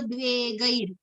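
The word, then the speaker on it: द्वेगैर्: I think that just at one place, Harsha, Marsha, Bhayo, Dve, Gair. It is I, Gay, not, gay.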